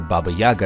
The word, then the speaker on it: Baba Yaga: The hut belongs to Baba Yaga, or Baba Yaga as most English speakers pronounce it.